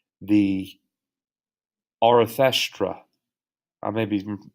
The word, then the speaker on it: Arthashastra: Kautilya wrote a ruler's handbook called the Arthashastra. I may be mispronouncing that. It's Arthasastra.